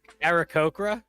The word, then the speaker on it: Aarakocra: How do you pronounce it? Kokra. Aarakocra? Yeah. Aarakocra. See, why is it an Okay.